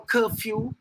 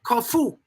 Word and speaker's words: curfew: He announced a 24-hour curfew, mispronouncing the word Corfu, which at least triggered a bit of a laugh in such a trying time by the many light-hearted.